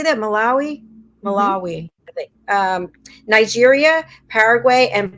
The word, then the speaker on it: Malawi: Malawi.